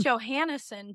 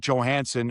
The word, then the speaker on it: Johansson: But it is Albert Johansson. And when he first came here, I said, "How do you want your name pronounced?" And he said, "Johansson." I said, "Good enough for me."